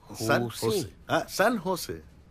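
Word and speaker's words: San José: ও বাবা, সান জোস? সান হোসে। সান হোসে, হ্যাঁ সান হোসে। জের উচ্চারণটা এইচ এর মতো হবে, সান হোসে।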